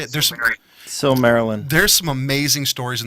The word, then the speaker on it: Silmarillion: which is a bummer because is it the Silvermarillion? I don't know how to say it. Silmarillion.